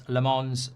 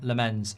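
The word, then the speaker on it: Lammens: He's Flemish, so it's Lamonz, not Lemenz.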